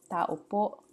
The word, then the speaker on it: tao po: Tao po, repeat it, accent on the last syllable.